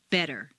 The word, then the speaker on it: better: the T and listen the Double T in better is pronounced d better any other pron iation